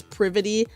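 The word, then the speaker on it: Privaty: Also, I call her Privy and I know it's privityy, but before I ever heard anyone say her name, I called her Privy for so long.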